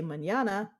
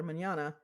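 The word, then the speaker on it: mañana: say manana they are when they see the word rather manyana they're going to say Manana or whatever because they are pronouncing it how you would pronounce it in English which is the language they speak pronouncing it properly would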